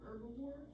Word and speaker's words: herbivore: It's actually called an herbivore. herbivore, whatever. Get It's out. not a herbivore. The H is silent.